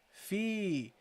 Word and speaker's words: في: So then we got the fa with the kasra and prolonged by the ya. So you got here fi, Fi.